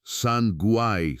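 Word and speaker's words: Sangay: Towering over the region is a volcano named Sanange, pronounced Sanuay, still active today.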